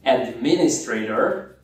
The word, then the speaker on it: Administrator: Atenção na sílaba tônica aí, Administrator, que é a segunda, né?